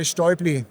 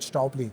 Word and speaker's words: Stäubli: So in Switzerland, we say Stäubli. Okay. And that's the right pronouncing. But in the international environment, we usually talk about Stäubli. Okay. So both of them go. Both of them is okay.